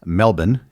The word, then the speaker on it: Melbourne: You've mentioned you spent a fair bit of time in Australia, in particularly Melbourne, or Melbourne as the locals would say. Did you happen to visit the Melbourne cricket grounds and watch any AFL games?